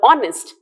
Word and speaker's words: honest: But here, in the first word, honest, H is silent.